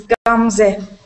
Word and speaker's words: Gamze: Next, I always pronounce this incorrectly. Gamze? Gamze? It's Gamze. Gamze, okay, Gamze.